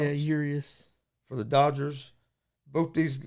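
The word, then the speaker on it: Urías: Musgrove's on the mound for the Padres, and you have Urias on the mound for Urias, I think it's pronounced. Yeah, Urias.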